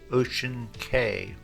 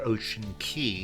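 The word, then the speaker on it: Ocean Cay: Okay, the next thing I wanted to show you is the Ocean K. Well, actually they call it Ocean Key, even though it's spelled C-A-Y.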